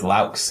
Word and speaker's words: Loucks: Is it Loucks? It's Loucks, actually. Loucks. You're right. Closest than most people get.